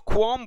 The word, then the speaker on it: qualm: इसको ख्वाम बोला जाता है, ख्वाम बोला जाता है, और इसका जो उच्चारण है ये यहां मैं लिख देता हूं, ख्वाम बोला जाता है।